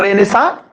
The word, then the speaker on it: Renaissance: हैं इसको, ये रेनेसा, थोड़ा उटपटांग इसका स्पेलिंग होता है, लेकिन हम लोग क्या करते हैं कि ऐसे इसको लिखते हैं, वह होता ही ऐसा ही है, RENAISSANCE, रेनेसा।